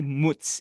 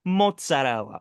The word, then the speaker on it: mozzarella: All right, we don't say mutz in this household, okay? No. We put some respect on the Italian language where you pronounce every letter. It's mozzarella, okay? No, get out of here with that mutz Italian American shit.